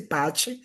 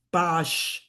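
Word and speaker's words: Paasche: No se dice Pache, se dice Pash.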